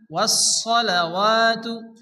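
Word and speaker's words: والصلوات: লিল্লাহি, লিল্লাহি ওয়াসসালাওয়াতু, অনেকে আছে ওয়াস সালা পড়ে, সালা পড়া যাবে না, এখানে সোয়াদ সোয়াদ জবর স হয়, সোয়াদকে মোটা করে উচ্চারণ করতে হয়।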